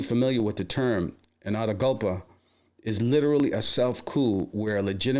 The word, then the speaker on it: autogolpe: Speaking of Donald Trump and conservatives, we're learning a new word thanks to a lot of people, including Paul Krugman, autogolpe. And there is a pronunciation of this.